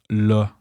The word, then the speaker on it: là: Literally meaning there, la in Quebec is most often pronounced like le, and is an incredibly versatile word. It can be used to say right now. For example, faut que t'arrêtes là, or on part quand?